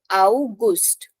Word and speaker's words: August: So Gust is important here. August. It's not similar to that of English.